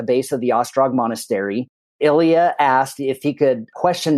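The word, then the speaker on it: Ilija: was a gentleman named Ilia movich and his name is spelled i l j a which ironically looks a little bit like Elijah but it is Ilia so we met with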